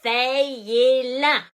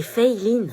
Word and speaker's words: Feyelin: C'est Feiline. Fayez-la. Feyeline? C'est Feiline. Bah, c'est écrit Feyelin. Oui, mais ça se prononce Fei, c'est américain en fait. Et Line parce que c'est asiatique.